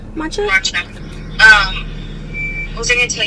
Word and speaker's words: matcha: Matcha? Matcha.